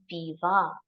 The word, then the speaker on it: Weber: My Name is Nina Viva. So W and B are pronounced as V and V again.